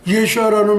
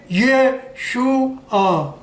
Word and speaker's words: Yeshua: 그러니까 이 가운데 발음이 설탕 발음 나올 때 슈가 그러죠. 슈가. 예, 단맛을 내는 설탕을 우리가 슈가라고 그러죠. 그래서 그 유자 발음이 들어가지고 예슈아가 정확한 예수님의 본명입니다.